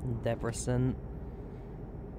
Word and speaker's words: Debrecen: Debrecen, as that's pronounced. Debrecen.